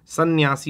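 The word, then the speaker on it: संन्यासी: होता सन्यासी होता है सन्यासी मतलब स पे अंग भी रहेगा या भी रहेगा सी भी रहेगा जाएगा सन्यासी होता है तो दो बार न का उच्चारण होगा एक बार अं की मात्रा से एक बार न से याद रखिएगा 2017 की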